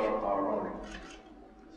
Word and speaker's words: Aharoni: in um welcome Ambassador Aron it's very simple you did not mention my first name by the way my name aroni I know rhymes with macaroni gives me a lot